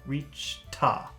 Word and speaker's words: reached: reached because there are a lot of complicated sounds but here we're lucky because the next word is a and instead of saying reached ah you can say reach ta and that's much